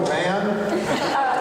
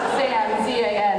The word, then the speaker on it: Zan: I heard Eternal Van. Zan, Z-A-N, it rhymes with fan.